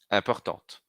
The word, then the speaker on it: importante: Vejam então como content, différent, prochain, passionnant e important e urgent, a gente vai pronunciar sem a última consoante, no masculino, e pronuncio a consoante final no feminino.